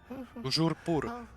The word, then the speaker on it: toujours pur: I order you to pronounce it for me. Oh, Master knows that Scrope's French is most pitiful. Toujours pur.